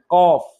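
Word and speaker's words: قاف: অফ, এটার উচ্চারণ হচ্ছে জিহ্বার গোড়া থেকে একটু আগে বাড়িয়ে তার ঠিক বরাবর উপর গোড়া তার বরাবর উপরে লাগিয়ে উচ্চারণ করতে হয় কফ কফ।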